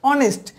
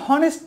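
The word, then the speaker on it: honest: For example আপনাকে বলি, যেমন এইচ ও এন ই এস টি, এটা হচ্ছে কি অনেস্ট, এটা কিন্তু হনেস্ট না, আপনি কিন্তু এটা উচ্চারণ গায়ের জোরে বলতে পারেন না যে এটা হনেস্ট।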